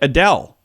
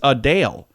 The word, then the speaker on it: Adele: been saying wrong like Adele her name is not Adele it's a Dale a Dale a Dale